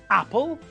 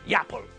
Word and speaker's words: apple: Apple and orange are nouns which begin with vowels. We pronounce them normally It's apple, not yapple. It's orange, not yorange.